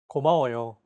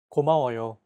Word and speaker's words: 고마워요: 고마워요. 고마워요. Each syllable is pronounced for an equal amount of time. 고마워요.